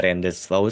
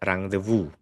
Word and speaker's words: rendezvous: Dan kalau teman-teman ada rendezvous kayak gitu itu salah. Ini bacanya adalah rendezvous. Ya, rendezvous kan.